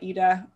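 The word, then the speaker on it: Eta: letter of the alphabet etta is uh eda i've heard it pronounced both ways i prefer etta but who knows um so it's in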